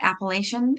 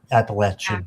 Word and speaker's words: Appalachian: Appellation? What do you say? Appalachia. Appalachian. Okay. So I'm Canadian. We say Appellation. We're wrong. There we go.